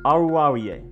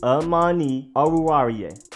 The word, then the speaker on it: Oruwariye: I feel like I'm having to pace myself when I say it, but that's the way to say it. That is the way it says on the Penn State pronunciation guides.